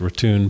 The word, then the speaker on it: Raton: Before very long, we got a ride in a truck, which took us over the Raton, pronounced Raton Pass, on the route of the old Santa Fe Trail to Raton, New Mexico.